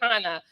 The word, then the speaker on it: Hannah: with you earlier but my name is pronounced Hana like Benny Han Hana okay Hana so Hana